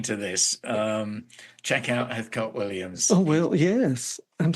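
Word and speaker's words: Heathcote: mean anybody listening to this um check out heot Williams oh well yes I'm spell Heath coat but it's pronounced heot heat Williams yes so then just going back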